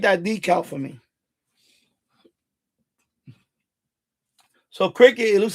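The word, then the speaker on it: Cricut: Yeah, cricket. But it's spelled like not cricket. It's spelled like crick cricket cut. Like cricket cut. Cricket cut. Something like that.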